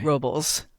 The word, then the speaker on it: Robles: Robles. I always Yeah. try and pronounce it Spanish.